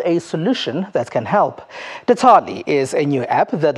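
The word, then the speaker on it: Datally: It's not called Detali, as I've been pronouncing it. Detali, that's how you pronounce it.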